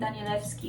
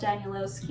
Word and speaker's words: Danielewski: And by the way, I'm not saying Danielewski instead of Danielowski in order to be pretentious. It's just my first language is Polish, and the moment I see this, I instantly pronounce it as Danielewski.